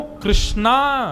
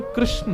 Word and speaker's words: कृष्ण: वो अपराध है, परंतु बंधुओं कृष्णा नाम द्रौपदी का है, भगवान का नाम कृष्ण है।